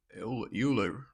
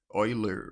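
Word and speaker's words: Euler: This is the uler rotation. Oiler rotation. Oiler is actually the right pronunciation.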